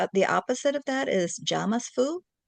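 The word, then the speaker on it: jamais vu: It's j a m a i vu. Jamas vu.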